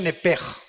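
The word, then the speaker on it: נֶפֶשׁ: Digo, por favor, esta palabra alma en el original hebreo es la palabra nepes. Apúntala como suena nepesh con sh se pronuncia nepej.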